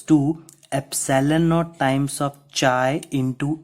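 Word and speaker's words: χ: This is not x. Remember, it is a pronunciation of chi.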